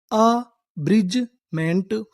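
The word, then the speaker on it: abridgement: अगर आपको इंग्लिश में कहीं पर डीजी ई लिखा मिले तो हम लोग डीजी ई को पढ़ते हैं ज।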